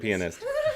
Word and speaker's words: pianist: You say the word pianist. Yeah. It's pianist.